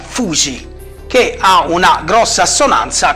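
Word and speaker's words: 藤: Glicine una pianta che in giapponese si pronuncia Fuji che ha una grossa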